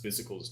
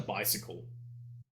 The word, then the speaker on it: Bizical: I remember we used to call him Bicycle. Well, I've heard a few things from Biz himself. I think that he's gone off of the song Let's Get Physical, but he's changed it into Bizical. Let's Get Bizical. So that's how we're going to pronounce it from now on.